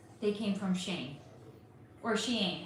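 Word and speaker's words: Shein: Shane. That's how it's pronounced.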